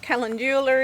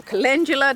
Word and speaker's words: calendula: And I have a little bit of calendula in there, or calendula depending on how you say it.